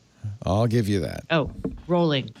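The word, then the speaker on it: Rowling: give you that Oh rolling rhymes with bowling thank you oh I said Raoul really it's rolling okay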